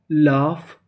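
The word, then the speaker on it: laugh: यूजीएच को पढ़ते हैं फ। यानी आपको कहीं पर यूजीएच लिखा मिले तो आपको क्या पढ़ना है? फ। तो मीनिंग क्या बनी? एल ए यू जी एच लाफ और आगे लिखा है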